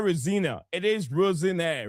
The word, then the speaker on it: Rosenior: Yes, the right pronunciation is not Rosina. It's not Rosina. It is Rosinire. Rosinire.